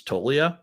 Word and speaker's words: Toglia: I believe, according to Baseball Reference, it's Toglia, and you corrected me on like 15 names last year on the Rotoworld show.